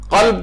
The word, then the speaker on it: قلب: جیسے لوگ صحیح تلفظ نہیں آ رہا ہے، مثلا قلب کہنا چاہتے ہیں اسے قلب کہہ رہے ہیں، قلب معنی دل اور قلب جو ہے کتے وہ کہتے ہیں مثلا.